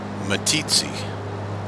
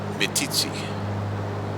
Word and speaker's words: Meeteetse: Okay, so you think that I'm how do you say this? Meeteetse? Meeteetse, Meeteetse. Yep. Meeteetse. where chiefs meet. That's what that means. Oh, It's a well, Shoshone word. Meeteetse.